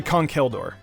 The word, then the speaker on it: Conkeldurr: I actually used to pronounce this Pokemon's name like that. It's actually Conkeldurr.